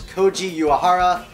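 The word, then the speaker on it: Koji Uehara: I'm also talking about a closer and that's Koji uara all right good job you said it right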